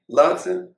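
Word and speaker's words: Latson: Let me pronounce this young lady's name. How you say it again, Chip? Lotson.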